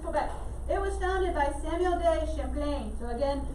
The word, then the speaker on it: Samuel de Champlain: it was founded by samuel day champlain so again i know pronunciation and spelling does not match right now so just be careful samuel de champlain that he's remembered as